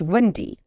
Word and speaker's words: Winde: Winder is pronounced windy, a bit like the flag flying moment, and it rhymes with whoopsie, so that's fitting.